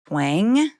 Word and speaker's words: Twenge: Like, you know, I'm actually doing an interview after this with Dr. Tweng. Her last name, it's spelled Twenge, and she just wrote a book called The 10 Rules for Raising Kids in a High-Tech World.